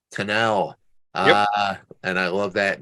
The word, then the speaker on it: Kinell: You gotta say Kinell.